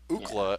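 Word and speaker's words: Ookla: this is actually interesting his name is spelled o o k l a and then the and mock is a species of like these these cat-like humanoid creatures ukla is actually UCLA that's where they got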